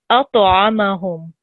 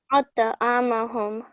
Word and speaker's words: أطعمهم: Now, this ta here is a thick letter, and I think you did pronounce it thick, but it needs to have a jerking sound as well. So أطعمهم. أطعمهم.